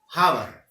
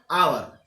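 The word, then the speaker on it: hour: हावर। लेकिन हम पढ़ेंगे तो क्या हो जाएगा? आवर, क्योंकि यहाँ का जो एच है ये साइलेंट हो जाएगा।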